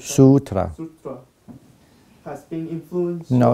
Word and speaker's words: Sutra: No, actually, I have to pronounce it Lankavatara. Lankavatara Sutta. Sutra.